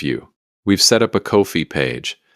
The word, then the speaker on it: Ko-fi: We've set up a Ko-fi page, that's K-O-F-I, pronounced just like coffee, and the link is in the description and on our bio.